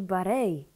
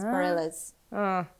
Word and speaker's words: Bareilles: To się tak wymawia. Zawsze mówiłam Bareilles, ale to jest nieprawda. Ja myślałam, że Barei. No właśnie, nie, bo to jest francuskie, ale z amerykańską wymową, więc Bareilles.